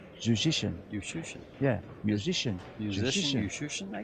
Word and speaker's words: Juszczyszyn: It rhymes with musician. There you go. But he pronounces his name. He pronounces his name Yushushin. Musician. Yushushin.